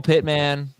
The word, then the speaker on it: Pittman: michael jerry judy michael pitman alan robinson what pit man elijah when you say it like that and there's first time listeners they're probably thinking why is he saying michael pittman's name wrong uh michael pitman allen